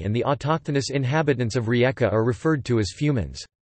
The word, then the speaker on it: Rijeka: Rijeka, Croatian pronunciation, Rijeka, listen, Italian, Fiume, Fju mi, Slovene, Reka, German,